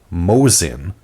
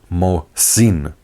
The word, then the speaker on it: Mosin: name say my name it's not Mosin but mosine I know it's bordering